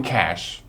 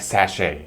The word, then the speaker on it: cache: secret collection of something think of it like the word cash money using the following sentence there's a hidden cache or a stash of cash in the forest don't say it like sachet which means to move